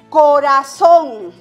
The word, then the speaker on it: corazón: Por ejemplo, aquí tenemos la palabra corazón, ¿no? La mayor fuerza de voz recae en la última sílaba, o sea, y está terminando en N. Entonces lleva el signo gráfico de la tilde.